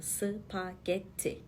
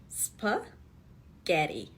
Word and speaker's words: spaghetti: spagetti kelimesini okuyacağız şimdi Türkçede söylerken DT hece var gibi çıkıyor spagetti ama İngilizcede ü heceli spa gety O nasıl oldu şöyle oldu Türkçede okurken iki sessiz harfin arasına Biz bir ses getiriyoruz sı pa diyoruz ama